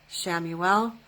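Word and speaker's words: Chamuel: we lastly we have Archangel shamuel spelled with a CH shamuel and this is the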